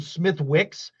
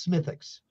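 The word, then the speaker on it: Smithwick's: what's funny is and I'm saying it right because it smelled it or it spelled Smith Wicks but the Real the true Irish way to say it is smithix so I learned that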